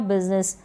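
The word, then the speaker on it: business: इन spellings में क्या है, यहाँ पर ये जो यू है इसको छोटी ई के रूप में प्रोनाउंस किया जा रहा है, पढ़ा जा रहा है, बिजी में और बिजनेस में।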